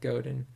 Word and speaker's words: Godin: seth rogen seth godin or my rhymes with seth rogen but it's seth goden i know i said